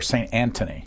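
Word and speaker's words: St Antony's: Anthony, do you pronounce it St. Anthony or St. Anthony? We say St. Anthony.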